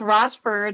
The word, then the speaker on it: Rochford: It's Rochford, like Rochford. Rochester.